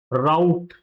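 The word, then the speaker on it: route: तो एक तो इसका प्रोनाउंसिएशन क्या हो जाता है? रूट। राइट? बूट। बूट की तरह। जैसे हम बूट प्रोनाउंस करते हैं, वैसे ही इसको इस वाले वर्ड को क्या प्रोनाउंस करना है? रूट। और इसका जो अदर प्रोनंसिएशन है, दी अदर pronunciation of this word is राउट। राउट। क्या बोला जाता है उसको? उसको बोला जाता है राउट। Like in पाउट।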